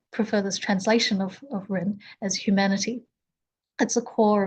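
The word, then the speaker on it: 仁: It's pronounced as Ren and um it's actually made up of two parts.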